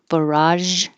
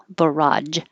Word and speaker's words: barrage: So we can pronounce it with the j, barrage, or with the j, barrage. Americans will say the j probably more often.